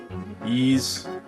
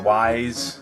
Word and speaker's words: Ys: I picked up a copy of, I don't know if you can see that, Ys or Wise 3, Wanderers from Wise, or Ys, depending on how you say it.